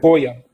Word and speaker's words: FOIA: can you spell that request again? I didn't hear that word. FOIA, it's FOIA.